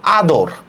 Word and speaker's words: আদর: Same দেখেন আমি লিখলাম আদর, খেয়াল করেন আদর, দেখেন একটা স্বরধ্বনির পরে অ আসছে কিনা, একটা স্বরধ্বনির পরে অ উচ্চারণ আসছে, এই জন্য আমরা কি করব, সরেয়া, দয়কার দো, র হসন্ত, আদর।